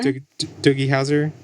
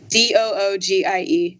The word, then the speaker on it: Doogie Howser: I'm not sure how you pronounce Doogie Howser. DOOGIEHOWSER. It's like Bowser. Doogie Howser?